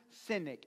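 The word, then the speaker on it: Sinek: this man's name is Simon synic SI nek maybe it's pronoun pronounced cynic but but it's Simon cynic I I don't know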